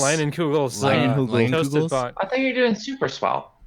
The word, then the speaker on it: Leinenkugel's: I don't week's even actually know how to pronounce this brand. I Ling- just always think Lingelas? it's Leinenkugel's Leinenkugel's?